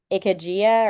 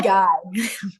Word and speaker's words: Ikigai: And I'm going to try to pronounce them and it's going to be terrible. I think it's Ikajia or Ikajaya for, Iki, yeah, yeah, Ikigai.